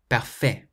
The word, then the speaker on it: parfait: When you pronounce them, make sure you emphasize the final syllable. In English, we say perfect and delicious. In French, you say parfait and délicieux.